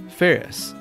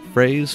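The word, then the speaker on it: Phares: My birth name is Ferris, which my last name is spelled P-H-A-R-E-S. Commonly mispronounced as Frays, Fars, Pijeres, and all sorts of different things.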